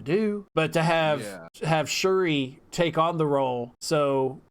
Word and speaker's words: Shuri: wrestler it's pronounced it's it's spelled s-h-u-r-i that that's how it's spelled it's so like like um chewy no yeah in a way but jeff like hit the r so it's like uh sure sure sure sorry something it's close to that yeah it's like shirty shooty it's it's pronounced different ways but in a way it'll sound it sounds more like shuri that's what i've always